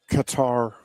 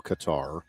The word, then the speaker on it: Qatar: We seem to change pronunciations of various countries at various times. But Canada and the country I call Qatar, I think Qatar now is the preferred, at least American version.